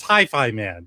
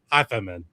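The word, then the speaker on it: HiFiMan: It's Hi-Fi Man, not Hi-Fi Man.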